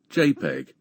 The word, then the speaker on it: JPEG: jpe or dot jpeg in computing jpeg is pronounced j a y p e g jpeg it's a commonly used method of compression for